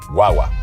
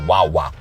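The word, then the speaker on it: guagua: say it right guwa guaga guaga it's almost like G way but fast it's almost like guwa but guaga you don't want to say guwa you want say guaga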